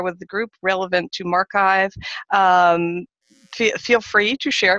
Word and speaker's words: MarXiv: here we go so mark I've as we keep saying it rhymes with archive and it's the research